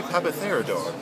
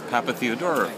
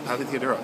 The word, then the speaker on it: Papatheodorou: I'm here with papor I'm sorry I said your name wrong oh that's all right most people do it's Papa theodoro Pap theodoro you know I I